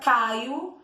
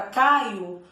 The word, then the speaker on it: Caio: eu tenho a palavra caio que é um substantivo próprio o nome de uma pessoa quando pronuncio a palavra caio parece que é com u no final só que é com o na hora de eu